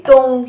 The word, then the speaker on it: 东: The pronunciation is 的 on, 东, the first tone.